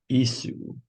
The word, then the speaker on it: issue: draw out two issue do you think those two s's there is a sh sound or a s sound is is things only one easy is it a s s or is it yes this in one s it's an issue it's an issue so it's an sh in this case that's right it's like